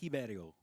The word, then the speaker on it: Ribeiro: Yeah, Brazilian, so I believe it's pronounced Ribeiro. And listen, so it's like that H.